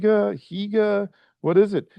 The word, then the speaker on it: hygge: We We look at it and we're like, "Is it hygge? higa? What is it?" It's actually pronounced hygge.